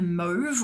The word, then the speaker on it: mauve: and a brown and a mauve or a mauve, depending on how you pronounce it.